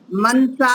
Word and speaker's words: मनसा: सुनिए रोहिनी जी सुनिए मनसा मन से ऐसे नहीं बोलना है नकार क्या है पूरा है इसमें मनसा मन से मन सह ये ना का उच्चारण पूरे आकार के साथ आना चाहिए जी है ना मनसा